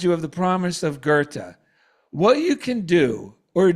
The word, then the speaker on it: Goethe: it's written Goethe, but in German, that name is pronounced Goethe. Right. So again, I wish to remind you of the promise of Goethe.